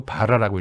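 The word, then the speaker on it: 罷漏: 그리고 아침에는 북을 쳤는데 이걸 파루라고 쓰고 바라라고 읽었어요.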